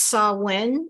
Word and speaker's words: Samhain: And this month, especially with the upcoming, I think it's Samhain, it's called, and it's spelled Samain.